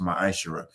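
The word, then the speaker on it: מעשר: You can find this in numbers 18 and 21 and Malachi 3:8-10 means 10th in Hebrew and it's pronounced my Aisha.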